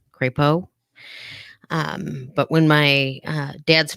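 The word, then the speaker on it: Crepeaux: was on your name my maiden name is krepo and um it was spelled originally from france c-r-e-p-e-a-u-x crepo but when my uh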